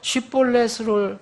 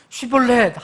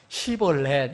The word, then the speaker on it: 쉽볼렛: 그래서 쉿볼렛을 말해보라 그러면 할 수가 없어요. 안 하는 게 아니라 자기들은 쉿볼렛 하는데 시볼렛 이렇게 나오는 거예요.